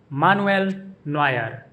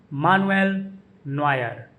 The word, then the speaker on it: Manuel Neuer: In German, his name is pronounced Manuel Neuer. Manuel Neuer. The emphasis is on the middle syllable in his first name, Nu, Manuel, and Noy in Neuer. Manuel Neuer.